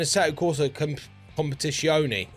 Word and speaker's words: Assetto Corsa Competizione: So, my main culprit and where I hear from people how they get burnt out is games like iRacing or even Assetto Corsa Competizione, if that's how you say it.